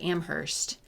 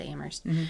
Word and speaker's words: Amherst: it everybody has an amherst massachusetts is the only amherst in the country that doesn't say the h everywhere else is amherst and that's how it's spelled but in massachusetts we just said amherst and you know pee